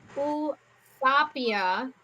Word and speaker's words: Eusapia: Okay, So they went and visited the psychic medium Usapia, which is spelled Eusapia, and his last name is Palladino, which was Palladino.